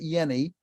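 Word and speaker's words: Jehne: He pronounces it Yenny.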